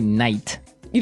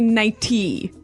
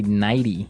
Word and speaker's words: nighty: But you don't say night. You don't say nighty. You say nighty. Yeah. You you make the t a d nighty.